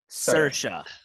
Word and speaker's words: Saoirse: Sort of. Just Saoirse. Saoirse Ronan.